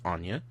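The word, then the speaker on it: Ania: And, you know, his new wife, Anya, her name is Anya. It's spelled A-N-I-A.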